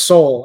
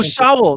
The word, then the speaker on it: Sowell: Well, Thomas Sowell is the greatest.